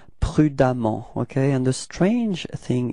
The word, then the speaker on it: prudemment: So you will get, for the adverb, it's prudemment, okay? And the strange thing is that you will write E-M-M-E-N-T for the adverb, but then you pronounce as if there was a-A, okay?